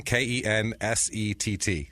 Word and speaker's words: Kensett: And it is pronounced Kensett because I saw several local news broadcasts that prove that. Ken, Kensett.